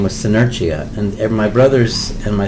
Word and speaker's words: Senerchia: I changed it back to Senerchia because I like to be a pain in the ass, and because that's how an Italian would say it.